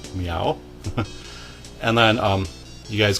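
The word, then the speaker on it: Myau: party member who is called meow and he's a catlike creature and his name is spelled m y Au U meow and then um you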